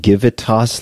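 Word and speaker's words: Givitas: I heard you correctly is that give it toss like gravitas or yes okay could you spell that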